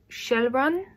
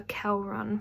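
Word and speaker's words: Kjellrun: Anyway, the plot follows 2 siblings, Steiner, and it's pronounced Shelrun, but spelt with a K-J. So I called her Kelrun for the whole of the book, but it's pronounced Shelrun apparently.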